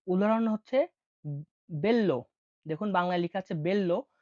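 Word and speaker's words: bello: বি কে উচ্চারণ হয় বি হিসেবেই। তো উদাহরণ হচ্ছে বেল্ল।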